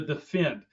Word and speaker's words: D3FEND: Another tool that can be used is the defend, which is spelled D3FEND.